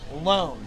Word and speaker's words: Lohn: Lohn. Like Lohn. Like you're gonna loan me a hot dog.